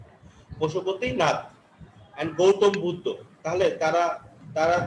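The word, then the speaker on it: पशुपतिनाथ: স্যার এটার উচ্চারণ পশুপতিনাথ হবে। এটা প্রথমে পড়লে সবাই কনফিউজ হয়ে যায় এটার জন্য। ও হ্যাঁ, ঠিক আছে, তোমার প্রোনাউন্সিয়েশনটা ঠিক আছে। পশুপতিনাথ এন্ড গৌতম বুদ্ধ।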